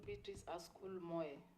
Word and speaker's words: Beatrice Asukul Moe: You are Beatrice Asukul Moe. Yes, Mr. Speaker. Have I pronounced your name correctly? Yeah, it's called Beatrice Asukul Moe. Moe, yes, correct.